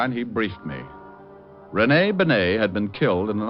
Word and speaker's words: Bennett: It's pronounced Bennett, not Benny.